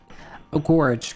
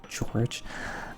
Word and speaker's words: Gorge: Gorge gorge, not George.